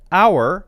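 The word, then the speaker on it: hour: use n and because h-o-u-r is pronounced our exactly the same by the way as o u r because it's pronounced that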